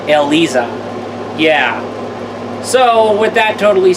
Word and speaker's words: Eliza: that I noticed how the Tekken 7 announcer pronounces her name ELISA yeah so with that